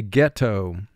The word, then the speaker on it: ghetto: The man lived in what was considered a ghetto. Ghetto. Two syllables. First syllable, get, three sounds, g, e, t, toe, two sounds, t, o, get, toe. Mark the word, get, toe.